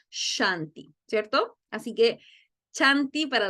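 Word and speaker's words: शान्ति: tenemos claro entonces que nuestra s es con tilde una fricativa simil que se pronuncia shanti cierto así que chanti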